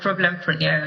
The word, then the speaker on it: Problempreneur: So, yeah, I mean, you pronounced it right, the PROBLEMPRENEUR instead of, entrepreneurship.